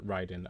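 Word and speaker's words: Raiden: ocelot in metal gear it's pronounced ryden okay uh thank you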